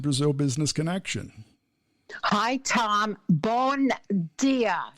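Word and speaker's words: Bom dia: Bon dia. Is that how you say it?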